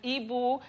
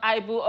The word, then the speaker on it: Ibu: It says, it's Mr. Ibu pronounced as Ibu, not Ibu.